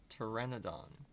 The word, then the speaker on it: Pteranodon: If I tried to pronounce it without chat's help, it would definitely start with a p sound, not a t sound.